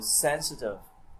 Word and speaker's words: sensitive: Đấy, rồi sensitive trọng âm rơi âm đầu tiên, personal.